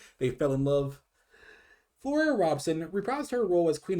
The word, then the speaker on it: Robson: the Queen Elizabeth, who I believe was Flora Robinson? Or excuse me, Robson.